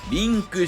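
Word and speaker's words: 零: 世界配信されリンクしていくこれが 129 のマせ 1 つめ人々リンク人々リンクゼロは中国語でリンと読みますそんな暴露系動画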